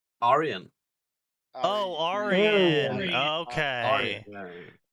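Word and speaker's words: Aryan: a what fetish iron that is not how that word is pronounce it is in Australia so you mainly because I can't say it the actual other way I literally can't pronounce it an ion fetish ion r y a n is what he's trying to say Arian oh Aran okay right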